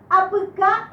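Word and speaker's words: apyka: Estas palabras son lo que vendría a ser en castellano palabras agudas. Es decir, la última sílaba es más fuerte y la última sílaba tiene una vocal fuerte, vocal final.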